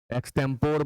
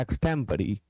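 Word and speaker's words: extempore: जाए वह एक्सपी है एक्टेंपोर बहुत लोग पढ़ते हैं गलत उच्चारण आपको पढ़ना है एक्सटम परी 23 कहा गया वन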